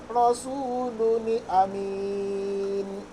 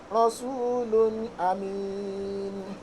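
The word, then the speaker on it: رسول أمين: Correct pronunciation and correct recitation whenever you come across something like this is Rasulun amin. Rasulun amin.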